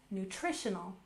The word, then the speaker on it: nutritional: We'll stress the second syllable, nutritional, nutritional.